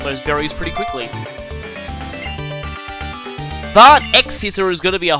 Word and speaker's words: X-Scissor: But X-Scissor is going to be a whole lot more useful. Some people apparently pronounce it Cross-Scissor. It's the whole Capcom crossover terminology.